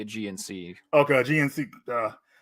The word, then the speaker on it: Aegean: Aegean, like the Aegean Sea.